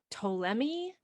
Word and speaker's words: Ptolemy: starts with a p good old silent initial p in english yeah just like like psychology yeah yeah it's just